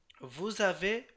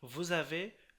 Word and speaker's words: vous avez: আবার যেমন ধরুন vous avez le téléphone, এখানে দেখুন এই যে vous আছে তাই এটা মানে লিজন করে পড়তে হবে। vous avez le téléphone, vous avez le téléphone, আপনাদের কি টেলিফোন আছে?